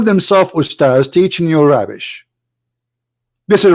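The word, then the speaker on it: أستاذ: Even they don't know even how to say the word because the word Ustads is not correct in the way they say it. The word in Arabic is Ustaz, which means a master, teacher.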